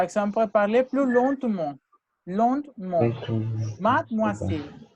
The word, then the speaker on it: mademoiselle: Mademoiselle. Made, la E ne se prononce.